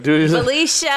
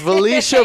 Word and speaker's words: Valeisha: the one, the only, I don't want to mispronounce this, I'm so sorry. Valeisha. There it is, Valeisha.